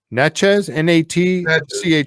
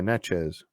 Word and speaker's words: Natchez: It's in, I got to try to pronounce that word. Natchez? Natchez? Natchez. Yeah, Natchez.